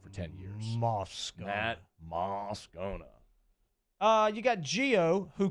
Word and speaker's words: Moscona: i think you know my last name is moscona it's like if you just said mascana just because you think that sounds better well the voice guy